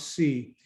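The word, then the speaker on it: Tse: is andy c a-n-d-y his last name is spelled t-s-e pronounce c he's in california and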